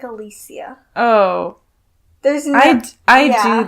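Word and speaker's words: Alessia: by Alexa Cara. And That's not how you say her name. Okay, I'm sorry. What is it? It's like Alicia.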